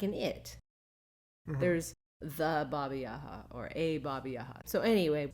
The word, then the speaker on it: Baba Yaga: entertaining and fun but he said that that's how they pronounce it Baba yaha not Baba Yaga so we're just gonna